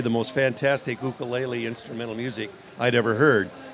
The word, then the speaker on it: ukulele: being the gear guy the correct pronouncing is ukulele okay so it's no it's not the you right okay yeah I